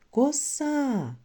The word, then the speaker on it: коса: у слові коса два на який склад падає наголос скажемо слово коса так на другий склад діти порахуйте скільки твердих